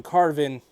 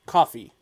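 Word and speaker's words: Coffey: said someone's name wrong not john carvin but coffee i get it it's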